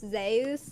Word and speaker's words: Zeus: Uh that I found out that Zeus is actually pronounced Zus in current Greek.